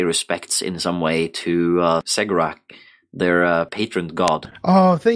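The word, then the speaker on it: Cegorach: And they do this to emulate and pay respects in some way to Segrak, their patron god. Oh, I'm glad you were pronouncing that with a S sound, because I was going to do that.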